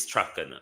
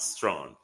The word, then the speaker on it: Strachan: But it is Strachan, not Strawn.